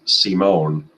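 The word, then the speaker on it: Simón: tomorrow and then Alfredo Simone spell sign but pronounced C Mon will start Saturday that wraps up and that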